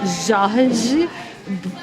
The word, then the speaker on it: Jorge: Just a Why carioca way of saying Jorge. it's like a people Like from. if you are from Rio de Janeiro, this is how you say Jorge.